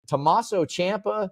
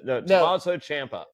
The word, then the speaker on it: Tommaso Ciampa: Is Tommaso Ciampa? That's right, because sometimes I say Ciampa. Tommaso Ciampa, or is it, which one is it? Tommaso Ciampa. No, it's not. Tommaso Ciampa.